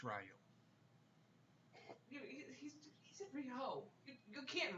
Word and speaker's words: Riho: Well, it's basically you want to look at it like Rio de Janeiro, there, Bobbin, not like Rio. It's Ryo.